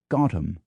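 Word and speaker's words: Gotham: New York City takes its nickname the locals pronounce it gotam and all of this isn't even to begin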